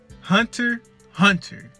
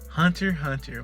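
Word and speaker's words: Hunter × Hunter: goat status goat status hunter hunter i don't pronounce that x in the middle you're not supposed to pronounce the x in the middle don't worry about it anyways hunter hunter my lord now technically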